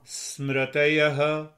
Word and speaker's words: Smritayaha: You see the sound of ha comes only in the last, but otherwise you speak a normal pronunciation. Pramana. Pramana. Viparyaya. Viparyaya. Vikalpa. Vikalpa. Nidra. Nidra. Smritayaha.